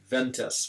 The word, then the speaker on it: vent: Like, I remember seeing a sign as I was driving in Chile, and it said like ventas, which of course means wind, but in French we pronounce it vent.